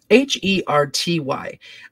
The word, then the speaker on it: Flaherty: Robert Flaherty. No, Flaherty? It's Flaherty, a filmmaker of Nanook of the North and Louisiana Story.